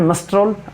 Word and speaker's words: मस्टर रोल: अनुचित उच्चारण करें। मस्टर रोल, मिस्ट्रोल आपने सुना। रहेगी ग्रामीण इस क्षेत्र में, यह सही है इसका उच्चारण है मस्टर रोल और इसका मतलब यह है कि उपस्थिति पुस्तिका या उपस्थिति कैलेंडर।